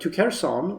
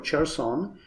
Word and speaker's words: Kherson: They got to Kherson or Cherson, depending on your pronunciation, and they never advanced further.